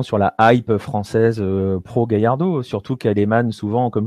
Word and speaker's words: Gallardo: semaines c'est machado gallardo gallardo comme on prononce à castillane ou l'argentine et voilà nous c'est